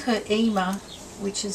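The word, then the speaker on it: Yma: And she called her Ema, which is spelt Y-M-A, and it's named after a particular actress from a long time ago.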